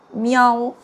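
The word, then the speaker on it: 喵: it pronounced as meow and is the Chinese sound word for the cat.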